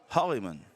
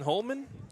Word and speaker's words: Hollyman: All right, number 2 is pronounced Hollyman. Hollyman. Hollyman. Hollyman. We've been saying Holman?